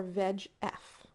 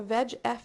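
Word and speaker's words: VEGF: regards to cancer so veg f is the liand and we have a veg F receptor and yes that is actually how it's pronounced V like veg like vegetable so if you'd like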